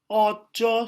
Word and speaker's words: ojo: But its pronunciation, the correct pronunciation will be ojo sok gampang. So is more circle.